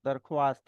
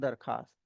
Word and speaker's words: दरख्वास्त: वहां पे भी दरख्वास्त होगा। दरख्वास्त नहीं होगा। तो ख्वाब ख्वाहिश और दरख्वास्त नहीं है। इट्स ख्वाब ख्वाहिश एंड दरखास्त। वहां पर वाओ साइलेंट है।